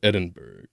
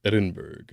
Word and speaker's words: Edinburgh: my journey we left Edinburg in a week I hope I'm pronouncing that right feel like it's probably Edinburgh yep okay let's see